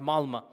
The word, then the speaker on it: Malmö: Malmö, it's spelled with an O, but it's pronounced Malmö.